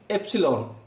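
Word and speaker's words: epsilon: এই সিম্বলটার নাম হচ্ছে এপসিলন। কি বললাম? এপসিলন। চলো এর স্পেলিংটা একটু লিখে দিই। আই বিলংস টু, এটাকে উচ্চারণ করার সময় বিলংস টু বলা হয় এ সেট।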